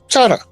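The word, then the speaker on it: Chahta: It ain't Chak, it's Chada.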